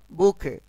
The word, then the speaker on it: bouquet: এখানে উচ্চারণটা দেখো, বুকে, বুকে, এখানে কিন্তু টির উচ্চারণটি হবে না, বুকে।